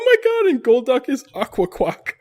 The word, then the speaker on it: Akwakwak: Oh my god, and Golduck is Aqua Quack. It's spelled What does quack mean? AKWAKWAK. Whoa, can you say that again? AKWAKWAK. Wow. Aqua Quack.